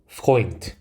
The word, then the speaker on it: Freund: 대도 단어의 가장 끝으로 가게 되면 태 발음이 나게 됩니다. 그래서 이 단어를 읽어보면 Freund, Freund.